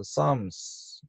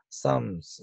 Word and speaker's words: psalms: 이 70인역에 이제 프살모이라고 이렇게 되어져 있고, 이 프살모이가 영어로 와서 psalms, 이게 P가 묵음이, 영어에는 P가 묵음이 되니까 psalms 이렇게 되는 겁니다. 이 psalms는 L도 묵음입니다. 예, psalms 이렇게 되는 것이죠.